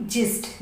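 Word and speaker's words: gist: जी आई एस टी, जिस्ट, जी के बाद आई आया है तो जा का उच्चारण हो रहा है, जिस्ट मीन्स सार।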